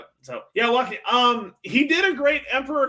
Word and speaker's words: Joaquin: Joaquin, is that how you pronounce it? Yeah, Walking Phoenix.